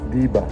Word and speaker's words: diba: D-I and then space B-A. How do you pronounce it? Diba. Diba? Diba. So it's like a question. I mean, you're like questioning someone, isn't it?